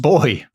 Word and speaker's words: buoy: It's pronounced boy.